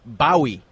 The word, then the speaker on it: Bowie: had a chat with John Ross Boi not Bowie Bowie is how he pronounces his name he's the star of